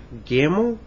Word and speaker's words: Gimel: Vet is spelled V-E-T. Okay, the three after that, Gimel, Daled, Hey.